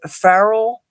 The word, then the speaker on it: Pharrell: magazine latest allure and did you know that farrell that's how you pronounce his name he's now gotten into the